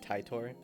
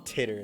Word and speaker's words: Titor: a genius have with it's pronounced titor okay man i will call him titter anymore she takes a